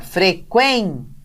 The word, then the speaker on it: frequência: Então, a gente sempre vê assim, frequência. Então, a gente está vendo aí que a sílaba quen, que é a penúltima dessa palavra, é a tônica.